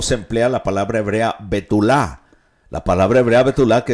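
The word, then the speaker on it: בתולה: Es betulá con acento en la última A.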